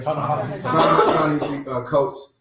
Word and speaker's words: Ta-Nehisi Coates: Ta-Nehisi Coates.